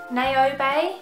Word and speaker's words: Naobay: to pronounce this it's I think it's naobay it's spelled n-a-o-b-a-y and